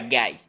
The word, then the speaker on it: guy: Y la palabra guy, G como del español y diptongo I, guy.